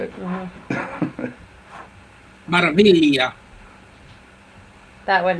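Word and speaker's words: Meraviglia: Maravilla. That would. The G is kind of pronounced as a Y.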